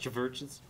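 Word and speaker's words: CHVRCHES: It's spelled with a V, though, so I think it's pronounced churches.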